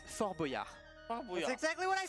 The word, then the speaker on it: Fort Boyard: letters you pronounce that's not pronounced. It's Foie gras. It's Fort Boyard. That's exactly what I said. Fabaya. Nope. Fort Boyard.